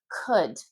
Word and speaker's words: could: So could, could. And again, this is across English pronunciation. This is British pronunciation, American pronunciation. Could. The L is always silent.